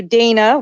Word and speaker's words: Dana: Dana with a long A because you're not Hispanic.